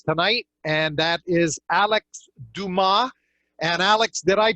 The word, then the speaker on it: Dumas: spoke on the phone I gave it the old english pronunciation of Dumas pronouncing the s but it is do ma correct yes it is